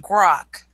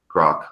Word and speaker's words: grok: Aaron, that word is pronounced grok. Grok.